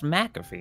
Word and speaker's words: McAfee: MC name you call it McNabb a mc mc a caffee but it's it's pronounced McAfee and that's just like put the put an